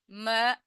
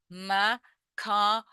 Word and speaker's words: macabre: Remember, macabre or macabre. Same word, two different pronunciations, same meaning.